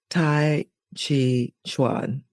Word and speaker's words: Tai Chi Chuan: And Maggie holds a Copper Eagle ranking in Yang style Tai Chi Chuan. Is that the correct pronunciation?